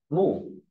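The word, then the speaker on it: 木: Và tiếp theo bộ mộc đọc là mủ.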